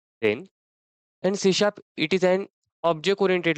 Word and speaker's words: C#: hist के बारे में the first point is सीशा pronounce as अ सीशा तो बाकी के लोग इसे सीश भी बोलते हैं लेकिन इसका राइट प्रोनंसिएशन सी शप होता है देन सीशा प्रोग्रामिंग लैंग्वेज